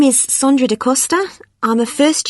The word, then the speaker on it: Sondra: your name was again sondra de costa is that sandra no it's spelt with an o so that's s o